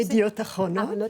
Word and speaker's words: Yediot Aharonot: À vos côtés, Tamar Sebog, journaliste correspondante du quotidien israélien Yediot Aharonot. J'espère que je l'ai bien prononcé. Yediot Aharonot.